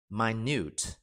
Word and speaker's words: minute: nhỏ xíu rất nhỏ mà chúng ta phải đọc là My News My News I have